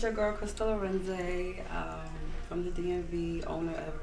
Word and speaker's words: Arinze: Let me know how to pronounce it. So Arinze.